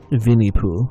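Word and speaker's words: Винни-Пух: Because I think Winnie the Pooh is just called like Vinnie Pooh or something.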